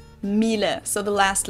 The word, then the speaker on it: Miele: usually say something like Miele, Miele. So it usually sounds more like an A in the end, whereas in German we say Miele. Miele.